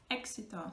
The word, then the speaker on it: éxito: between the two vowels, then it's going to pronounce like X, like K and sit together. X sound like éxito, success, or exigir, which is demand, or exagerar, which sounds exactly like the English word exaggerate.